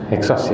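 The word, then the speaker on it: Hyksos: namanya suku he SOS tulisanya h e x o s Bacanya apa heksos ya ya mau bilang hakos bingung tapi heksos benar X ya heksos yang menguasai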